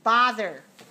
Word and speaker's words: bother: The next word is bother. Bother. You are correct for bother. Bother is the ah sound. It rhymes with father.